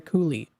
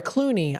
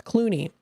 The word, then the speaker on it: Clooney: This is called Hey There, the music of Rosemary Culie. Uh, I'm sorry, Clooney. I'm so sorry, I was I was pronouncing the last name wrong. It's Clooney.